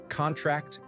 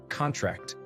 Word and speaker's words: contract: Examples include contract and contract. The former, with stress on the first syllable, is a noun, as in sign this contract, whereas the latter, with stress on the last syllable, is a verb, as in the muscles contract.